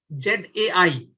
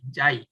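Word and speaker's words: xi: This is called actually, this symbol is pronounced as JAI, ZAI. If you don't, may not find the symbol right away, just type JAI, JAI. This is pronounced at JAI.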